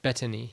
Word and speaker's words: Bettany: it happened but but anyways back to Paul Bentley so yeah bad knee bet Bettany yes that's how you say his name yeah